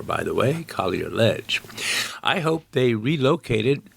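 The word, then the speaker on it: Collier: That's spelled C O L L I E R, by the way. Kier Ledge.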